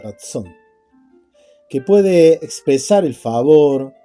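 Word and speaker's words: רצון: Y la palabra para favor en hebreo es ratsón, parecida a la palabra razón, pero es ratón. Sí, así se pronuncia, ratsón.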